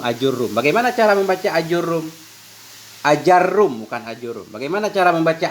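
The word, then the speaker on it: آجرّوم: dhabit cara baca ajarum yaitu hamdahnya fathah, a, mat, a, kemudian jimnya fathah, ranya tasdid, ajarrum.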